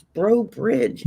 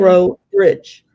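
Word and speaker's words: Breaux Bridge: but the correct one because of the way it's spelled. And it drove me crazy. And I kept saying to myself, it's Bro Bridge, idiot.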